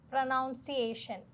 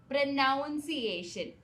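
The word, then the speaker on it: pronunciation: പ്രൊനൗൻസിയേഷൻ. പ്രനൗൺസിയേഷൻ. ഇവിടെയാണ് നമ്മൾ തെറ്റിക്കാറ്. പൊതുവേ എല്ലാവരും തെറ്റിക്കുന്ന ഒരു കാര്യമാണ്. ഇത് പ്രനൗൺസ് ആണെങ്കിൽ ഇത് പ്രനൻസിയേഷൻ ആണ്. ഇത് പറയുന്നത് പ്രൊനൻസിയേഷൻ എന്നാണ്. ഓക്കേ.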